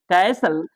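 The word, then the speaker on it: castle: silent है ये listen कैसल कैसल मतलब महल होता है अटारी होता है दुर्ग होता है कैसल तो कैसल में टी साइलेंट है कैसल ऑफेन ऑफेन में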